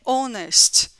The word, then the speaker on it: honest: né né hôtel é honest a gente não pronuncia essa letrinha que o h que é consoante a